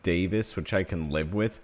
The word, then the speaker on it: Davies: So, Davies is pronounced Davis, which I can live with, but what I couldn't live with is I'm calling him George.